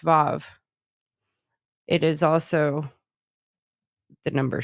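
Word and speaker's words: ו: So I mean, here's a little thing: the letter W mhm, in Hebrew mhm. is pronounced Vav.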